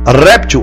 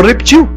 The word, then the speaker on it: réptil: Acróbata ou acrobata, réptil ou reptil, projétil ou projetil. Interessante isso aí. E claro, xerox ou xerox. O dicionário aceita as duas formas.